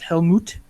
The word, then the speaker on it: Helmut: out that even though his first name is pronounced Helmut I purposely named him helmet Helm Hammer which was